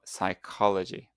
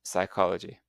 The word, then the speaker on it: psychology: canite and physicology but in English we ignore the first letters and we just pronounce the main sounds in the word like night and psychology.